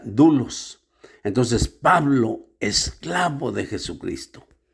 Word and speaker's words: doulos: La palabra griega para esclavo es dulos. Dulos. Luego se escribe doulos. D o u l o s, pero se pronuncia dulos.